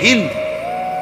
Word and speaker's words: হিন্দ: করার পরে একটা নারী, যে নারীর নাম হলো হিন্দ, আমাদের দেশের উচ্চারণে বলে হিন্দা, যাই হোক মূলত হলো হিন্দ, আকারটা নাই আর কি, কিন্তু এটা উচ্চারণের একটা ভুল, হিন্দা বলে ফেলে।